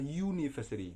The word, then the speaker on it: university: Karena pronunciation atau pelafalan dari kata university itu adalah university. Jadi U itu kan Y, berarti Y.